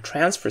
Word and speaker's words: transfer: of the airplane but should you use it as a verb don't forget to shift the stress to the second syllable to transfer a jet pump or fuel